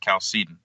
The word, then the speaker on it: Chalcedon: to start off with: is this pronounced Chalcedon or Chalcedon? I've heard it both ways. Yeah, and I've heard it both ways, and I think the more proper way of saying it in English is Chalcedon.